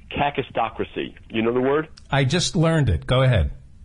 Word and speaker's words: kakistocracy: Or a better word, kakistocracy. This is a hard one to pronounce. It's a Greek word, kakistocracy.